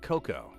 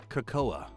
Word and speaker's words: cocoa: call it hot kakoa cuz that is how it should be pronounced I don't mean to be a stickler about it but uh it's not Coco all you have to do is look at the word it's kakoa um I'm glad you're